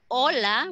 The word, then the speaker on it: hola: But the A, B, C, D, F, G, H, which started here with hoy, hoy, hola, we say hello, hola, ¿qué día es hoy? Is always with a silent H.